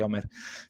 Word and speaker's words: Omir: about her life no omer what is life omir what is omer is pronounced omer which is her life Well leave it all